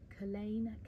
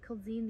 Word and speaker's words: Culzean: associated with them today we are talking about Colleen Castle which is spelled colzine and in my head when I was researching um researching it I was pronouncing it called zeen the entire time pronouncing it completely wrong um